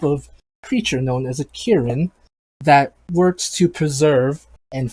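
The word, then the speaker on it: kirin: i think it's called a um well you pronounce this again it's a giant horse monster hey um um are you from iran kieran karen yes there you go oh yes uh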